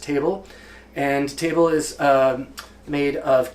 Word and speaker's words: tabil: a mix called table it looks like it's pronounced tabil but it's really pronounced table and table is made